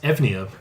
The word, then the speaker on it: Eunoia: Eunoia can also be pronounced Evnia. No, stop. How does that fucking work? Because it's Greek. And in modern Greek, you would pronounce those letters Evnia.